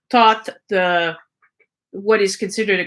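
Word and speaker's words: Thoth: led by thought so the pronunciation the writing of thought is t-h-o-t-h so it's not the thinking thought but taught the what is considered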